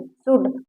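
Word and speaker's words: should: देखिए ए के बाद यल आया है तो यहाँ पर ये यल साइलेंट है। देखिए काफ, half, balm, palm, कुड, सुड, walk.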